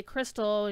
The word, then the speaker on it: Kristala: about the crystals, and it's pronounced the same way that I would say crystal, you know, C-R-Y-S-T-A-L, but they spell it K-R-I-S-T-A-L. So I thought that was a bit interesting.